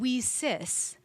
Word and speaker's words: WiCyS: And we pronounce it We Cis, like we sisters.